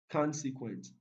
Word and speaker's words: consequent: answer number 42 consequent consequent it's stressed on the first syllable ingredient it is stressed